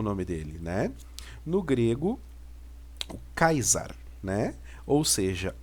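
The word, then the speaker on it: Καῖσαρ: olhar aqui nós temos o capa o alfa e ota Sigma o alfa e o hall né que vai dar a pronúncia de kaisa né ou seja o César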